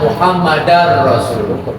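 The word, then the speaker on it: محمدًا رسول الله: Asyhadu anna Muhammadar Rasulullah. Bacanya dar, bukan dul.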